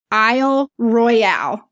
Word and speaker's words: Isle Royale: was mispronouncing she goes us michiganders call it Isle Royal like the royal family but it has an